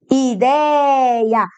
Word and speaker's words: ideia: Ideia. A sílaba tônica é o dei. Tu tá vendo que ela é uma paroxítona? Com o ditongo ei.